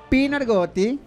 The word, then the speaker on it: Pinoargotti: se volvió viral ya donde el señor Francisco Pinargotti...